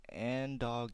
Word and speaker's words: Angdog: message the other day from someone named Ang no Angdog Gaming, Angdog Gaming. His name is Angelo, he told me, so I'm guessing that's the way he wants it pronounced. Ange, like Angelo, Angdog Gaming.